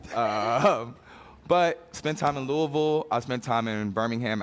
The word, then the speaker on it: Louisville: That's how you say it. They taught me. They teach you how to say the word Louisville.